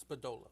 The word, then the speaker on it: Spadola: Spadola.